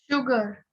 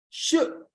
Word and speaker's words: sugar: upw color Mr Kalam sugar is the only word in English where Su is pronounced as what sure so immediately the great